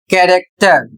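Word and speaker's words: character: अगला शब्द है सी एच ए आर ए सी टी ई आर और इसे पढ़ा जाएगा कैरेक्टर और इसकी हिंदी होती है चरित्र।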